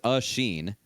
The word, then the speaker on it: Asheen: Well, I was told by Cosman the correct pronunciation of his name is Asheen.